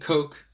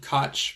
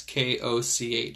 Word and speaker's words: Koch: a guy named Koch some people call them Koch that's not how you pronounce the name it's Germans K och Koch if I'm remembering correctly there should be yes its K och Koch yeah so yeah Koch's postulates